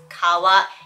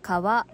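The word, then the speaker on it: 川: For example, instead of just telling you that this kanji for river is kawa, it shows you via image that it means river and then tells you how to pronounce it. Kawa.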